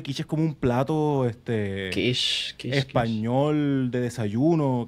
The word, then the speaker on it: quiche: Actually, yo creo que quiche es como un plato Kish, Kish, Kish. español de desayuno, creo que es buenísimo, pero se escribe con Q, no con K.